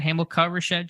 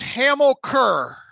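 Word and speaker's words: Hamilcar Childs: is that what you said hamilkar shed junior it's hamill kerr and hamburger 46 so just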